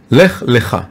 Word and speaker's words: Lech Lecha: It's Lamed and then Chaf. Lech Lecha. It's pronounced differently, but if you look at the Torah scroll, you can't see the difference.